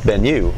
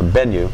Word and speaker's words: Bennu: send a robotic lander to an asteroid called Bennu, or Bennu, I think that's how you pronounce it, B-E-N-N-U.